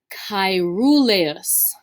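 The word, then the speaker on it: caeruleus: told you is really common this word is pronounced cairoleus chirulus this is our word for blue all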